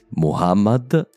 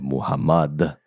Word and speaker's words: Muhammad: La prima è proprio il nome più comune di tutti, Muhammad e non Muhammad. A quanto pare ho preso la pronuncia francofona del suo nome, scusate.